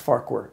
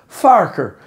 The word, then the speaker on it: Farquhar: It's actually not pronounced Farquhar. It's pronounced Farker.